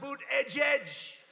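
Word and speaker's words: Buttigieg: these guys you have these people how about boot edge edge who that judge they call the mayor Pete you know why because nobody can pronounce his name nobody has any idea who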